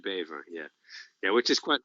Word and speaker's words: Bever: well yeah beaver yeah the dutch pronunciation would be beaver yeah yeah which is